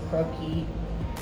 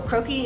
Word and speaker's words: croquis: say the difference between the croaky or croaky is spelled cro qu is and it's actually a French word and so that's what